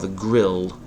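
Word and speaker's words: grille: of the car yeah it's called The Grill but it has a silent E maybe that that explains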